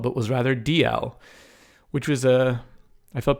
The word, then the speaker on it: Dalzell: that I realized his last name was not pronounced Dalzell but was rather DL which was a I felt pretty dumb anyway